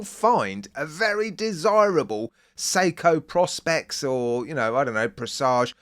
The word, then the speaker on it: Prospex: a very desirable Seiko Prospex or, I don't know, Presage. Oh, by the way, there's been an advertising campaign in the UK recently by Seiko, and on the TV they say Prospex, not Prospex.